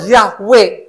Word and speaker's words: Yahweh: Ternyata waktu saya teliti, di situ tulisannya Yod-He, Waw-He, bacanya Yahweh.